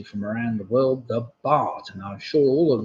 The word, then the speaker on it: baht: So cart will rhyme with baht.